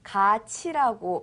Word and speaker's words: 같이: 같이는 갓이라고 쓰지만 읽을 때는 소리 낼 때는 가치라고 발음해야 합니다.